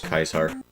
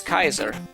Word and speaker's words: Caesar: uh Fallout New Vegas refer to Caesar as kaisar yeah like Julius Caesar was called Julius Kaiser in the original and like in the in the Latin pronunciation back in the go old days uh there is I